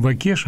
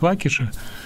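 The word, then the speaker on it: Waukesha: И еще одно трагическое событие, которое произошло вчера, это, я не знаю, по-русски мы говорим Вакеша, а на самом деле американцы произносят Вакеша.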